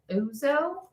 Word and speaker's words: Ouzo: It's by Thea Coleman, and it's called the Ouzo. It's spelled O-U-Z-O.